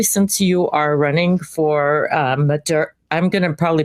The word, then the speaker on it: Madera: Oh, yes, it's my honor to have you here, especially since you are running for Madera. I'm going to probably pronounce it not properly, Madera.